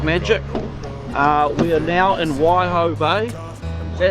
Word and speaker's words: Waihau Bay: We are now in Waihau Bay. Is that how you say it? Waihau? Waihau? Waihau Bay.